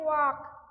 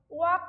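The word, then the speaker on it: walk: বা ধরো এই যে ওয়াক, ওয়াক কথাটায় এল উচ্চারিত হয় না।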